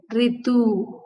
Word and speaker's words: ऋतु: से देखना चाहिए कि इसका प्रोनाउंसिएशन री होता है, ना कि रू। रू माने वो तो तेलुगु में होता है, हिंदी में हम यह अक्षर को री ध्वनि के साथ उच्चारण करना चाहिए। ऋतु, ऋचा, ऋषि, ऋषभ।